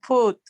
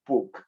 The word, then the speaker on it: put: escuché que pronunciaste como con una K en lugar de una T. to put. Ajá. Yes. Okay. Lo pronunciaste To como me, lo pronunciaste como con una K y dijiste puk en vez de put.